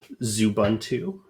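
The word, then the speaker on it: Xubuntu: and you know you can use something like zubuntu which is spelled like that zubuntu is a version of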